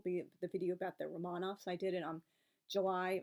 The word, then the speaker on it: Romanov: like totally pretentious but the correct Russian pronunciation of Russia's Imperial family is Romanov I know many people say Romanoff but that's not actually correct I do have a